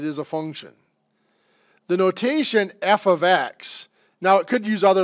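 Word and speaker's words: f(x): y equals 2x plus 3 and this is pronounced f of X equals 2x plus 3 absolutely nothing they mean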